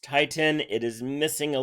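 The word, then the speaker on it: titin: this protein called titan' it's really pronounced tighten it is missing a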